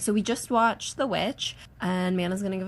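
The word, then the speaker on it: VVitch: how to say that oh it's just witch you can just say which okay cuz it's not they spell it with two v's but it's just it's to be cute like they're trying to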